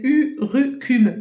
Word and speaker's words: urucum: Alors, je souhaitais vous parler d'une plante qui s'appelle urucum. Comme ça, je vous le dis, comme ça s'écrit U-R-U-C-U-M.